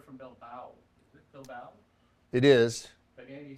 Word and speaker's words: Bilbao: Is it Bilbao? It is. But Andy says that because you said it wrong. Yeah, I did. Bilbao.